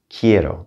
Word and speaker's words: quiero: going to say quiero quiero now the queue sounds like a k and i want you to pronounce every single vowel quiero all right just